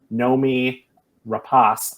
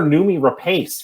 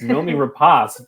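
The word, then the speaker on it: Noomi Rapace: obviously a24 it's it's such an a24 movie Nomi rapas I looked up her name that is the way you pronounce it I've been calling her numi Rapace for so long and it's Nomi rapas just been sounding like an idiot um but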